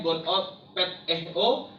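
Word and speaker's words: γονυπετέω: Dan berlutut dalam bahasa Yunaninya disebut gonupeteo, dalam pelafalannya gonopeteo, yang artinya itu jatuh berlutut atau hanya berlutut dengan lututnya, tetapi mukanya tidak sampai ke tanah.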